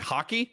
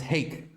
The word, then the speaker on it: Hake: Is it hockey? It's Hake. Hake.